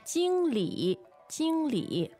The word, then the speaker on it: 经理: 经理,经理。 All right, there are several words actually, but here's the one that we see here. First tone, third tone.